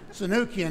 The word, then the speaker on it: Sunukjian: When you first saw my name in print, you said, "How does this guy say his name?" And now that you look at me, you say, "You don't look Japanese." Sanukian is an Armenian name.